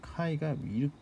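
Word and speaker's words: χ: 그래서 스탠다드 가우시안을 제곱을 해서 n개를 더할 경우에 우리가 그것을 카이 스퀘어 랜덤 베리어블이다라고 이야기를 하고 노테이션을 이렇게 씁니다. 그러니까 카이가 제가 뭐 잘 썼는지 모르겠는데 카이가 이렇게 써요.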